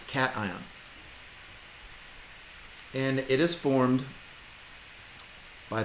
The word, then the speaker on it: cation: So we'll discuss this more next unit as well, but a positive ion is called a cation. Not a cation. It's just pronounced cation.